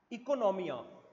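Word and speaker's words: oikonomia: Economics का एक Greek word होता है इकोनॉमिया ओ से स्पेल हुआ है ओ आई के ओ एन ओ एम आई ए इकोनॉमिया स्पेलेल ओ से होता है प्रोनाउंस आई से होता है इसका भी मतलब क्या होता है हाउसहोल्ड मैनेजमेंट।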